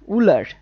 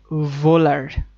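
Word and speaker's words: Wöhler: আবার কোন বইতে লেখা থাকে ফ্রেডরিক উলার। কোন বইতে ফ্রেডরিক ভোলার এটা হও না এটা ভও না। এটা হচ্ছে ফ্রেডরিক ভোলার। হ এবং ভ এর মাঝখানে কিছু একটা উচ্চারণ করতে হবে।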